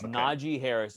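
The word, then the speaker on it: Najee Harris: Sunday morning session and everyone learn how to pronounce the damn name it's Naji Harris if I hear have to hear Najee one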